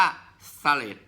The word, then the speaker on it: phthalate: SA สี เล็บ EE PS ไม่ ออก เสียง ครับ อ่าน ว่า ฟาเรด ส มี เสลด หา